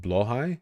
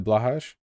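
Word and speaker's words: Blåhaj: It's pronounced Blohai? Is that true? Weird. Would you pat the Blahaj? Well, I've been in IKEA before, so yeah. Blohe?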